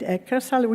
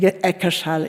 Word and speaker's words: Eckersall: I never know how to pronounce it, but I think Eckersall is the correct one.